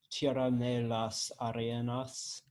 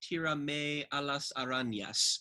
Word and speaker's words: Tira Me a las Arañas: pretty straightforward Spanish, and I think it's just Tira me a las arañas, because the n over the n is a nya.